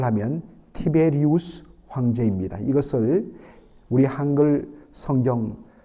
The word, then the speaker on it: 티베리우스: 한지 15회 되던 때였다고 되 있습니다 여러분 먼저이 디베료 황제가 누구냐 정확하게이 발음을 하면 티베리우스 황제입니다 이것을 우리 한글 성경 한 3 40년